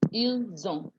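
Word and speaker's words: ils ont: because it's double s so the single s gives zom s o nt gets you zone il zone i will find cheese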